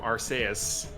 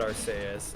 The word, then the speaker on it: Arceus: is because our sp why would they care if it sounds like arse in japanese that's true why is